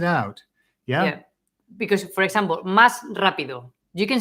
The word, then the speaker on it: más rápido: speakers do is that when a word finishes with S and then the next word starts with R, they don't pronounce the S.